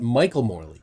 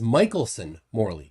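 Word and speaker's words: Michelson–Morley: say it wrong twice it's not michael morley it's michelson morley it's two people albert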